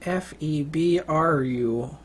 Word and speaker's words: February: february february february um it's a weirdly pronounced month r f-e-b-r-u-a-r-y february it's good it's a freaking r in it that confuses all second